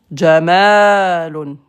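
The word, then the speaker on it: جمال: Jamalon, c'est un chameau. Jamalon. Si tu prolonges, Jamalon, beauté.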